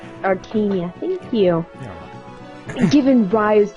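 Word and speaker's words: Archanea: Long ago, Medeus, king of the Dragonkin, conquered the continent of Archina. Yeah, there we go. Wow, yay! It's pronounced Arcania. Arcania, thank you.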